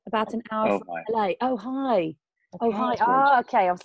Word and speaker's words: Ojai: It's wonderful to pronounced Ojai, about an hour from LA. Ojai.